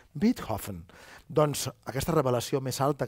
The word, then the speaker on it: Beethoven: Beethoven, que deia Beethoven, perquè m'han dit alemanys que ho hem de pronunciar bé, Beethoven.